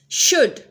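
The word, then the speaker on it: should: शुड, अब शुड के अंदर भी हम एल को प्रोनाउंस नहीं करेंगे।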